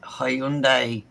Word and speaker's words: Hyundai: It's the way we pronounce it, because we say the Y.